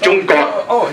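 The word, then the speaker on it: 中国: The first one is pronounced Zhongguo.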